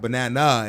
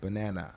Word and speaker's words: banana: So go and so in English some syllables are stressed more strongly. Yeah. And others are reduced like the uh in banana. Yeah. So not banana, it's just banana.